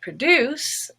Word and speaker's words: produce: disadvantages is rose but if it's a prefix and a word like produce and the stress is then on deuce which is blue pro becomes pro produce and then we have